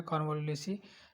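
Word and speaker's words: Convolvulaceae: Family दे रखा है, कानवा उलेसी, थोड़ा सा प्रोनाउंस आप सही से कर लेना, कानवालुलेसी, देन सोलनेसी।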